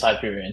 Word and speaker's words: Hyperion: Right here we have Hyperion. Is that how you pronounce it? Hyperion. Yes, it's Hyperion.